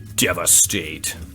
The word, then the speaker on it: Devastate: Devastate. Rhymes with defecate.